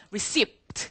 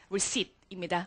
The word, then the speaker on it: receipt: 여기서 우리 P 발음은 묵음이야. 제발 receipt 하지 마. 그냥 receipt입니다.